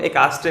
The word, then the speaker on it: ecstasy: तो इसकी जो प्रोनाउंसिएशन है ना, वो हम एकास्टे बोलते हैं।